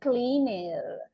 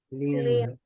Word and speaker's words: cleaned: to add Ed but we cannot say cleaner okay the pronunciation will be like this pronounce it please cleaned cleaned clean okay clean